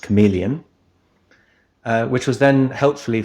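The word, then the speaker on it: CM3leon: by a model called cm3 Leon which is pronounced chameleon uh which was Then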